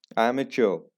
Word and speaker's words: amateur: एमेच्योर, that's the correct pronunciation, एमेच्योर।